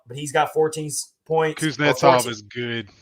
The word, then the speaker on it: Kuznetsov: Kuznetsov is good. Kuznetsov, yeah. Thank you for pronouncing that right for me.